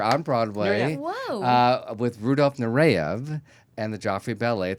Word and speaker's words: Nureyev: Nureyev, that's how you pronounce Okay, it. Nureyev.